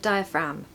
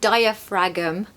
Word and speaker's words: diaphragm: diaphragm breathing techniques and by the way the pronunciation of diaphragm crazy it looks like diaphragm but it's actually diaphragm from just in case